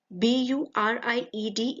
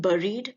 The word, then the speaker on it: buried: The B in the end is silent. Again, B-U-R-I-E-D is not buried but buried.